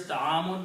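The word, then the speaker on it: طعامٌ: Ta'amun, the original word is ta'amun with the two dhammas at the end. And the sound is ta'amun.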